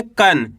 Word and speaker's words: कण: कण। क्या पढ़ेंगे? कण। आपको करना क्या है? आधा न का उच्चारण निकालना है। किसका निकालेंगे? आधा न का। यानी कि तेजी के साथ निकालेंगे कन।